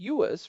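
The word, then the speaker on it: 乐: The word for music and the word for pleasure in Chinese use the same character, but are pronounced differently, yuas for music and ler for pleasure.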